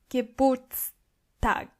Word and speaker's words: Geburtstag: Geburtstag. Don't forget the S between the two T's.